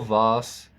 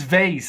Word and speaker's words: vase: She carefully wrapped the fragile vase in the bubble wrap before packing it in the box. And before you tell me it's vase, it's vase. Vase or vase. Both is fine. American and British pronunciation.